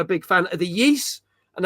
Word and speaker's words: Ys: big fan of the yeast and that's spelled Ys I know that's the proper way to say it because the last time